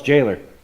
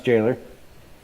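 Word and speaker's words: gaoler: l e r definition oh it's Jailer it's pronounce Jailer a person a person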